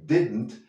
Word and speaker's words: didn't: De nuevo, la pronunciación didn't, didn't, no didn't, no hay una E y la I es menos aguda.